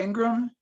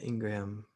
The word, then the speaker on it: Ingraham: guys so yeah uh laura ingram and it's spelled ingraham so that's another one yeah laura and then like i said it's spelled ingraham uh ingram okay let's see what